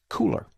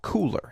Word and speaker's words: Kuler: today may I suggest cooler now it's spelled kul ER but it is called cooler as in hey it's cool what is it well